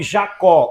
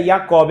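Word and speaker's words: יעקב: Até porque no hebraico eh eh os judeus eles não pronunciam o nome Jacó. O a letra J lá não tem este som. Seria Jacob, né? Yacobe, assim como Jesus, lá não se fala Jesus, é Yesua, entendeu?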